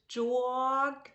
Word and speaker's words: Jörg: J-O-E-R-G, but still it's as the J in German is the J in the US. So it would be Jörg.